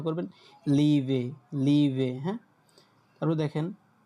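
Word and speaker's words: Liebe: তারপর দেখেন ই এ, ইয়ে, ইয়ে, তখন ওইটার উচ্চারণটা হয়ে যায় কি, যখন এটা শব্দের মধ্যে উচ্চারণটা করবেন লিভে, লিভে, হ্যাঁ।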